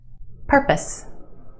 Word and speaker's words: purpose: pose but put it in this word and it becomes p purpose purpose.